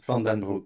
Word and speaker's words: Van den Broek: But your surname I pronounced right. Yes, Van den Broek.